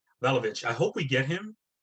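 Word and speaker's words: Vlahović: Vlahovic. Vlahovic.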